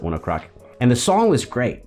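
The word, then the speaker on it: ONE OK ROCK: rock band one o'clock it's like one okay rock but you pronounce it one o'clock and the song was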